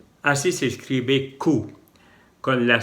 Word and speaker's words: coup: Así se escribe Q, con la C, la O, la U y la P. Y la P no se pronuncia, solamente Q.